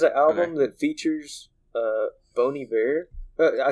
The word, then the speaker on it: Bon Iver: really yeah you said you say it bony bear it's like a french thing it makes me feel pretentious whenever i say it but it is it is the proper pronunciation but that song is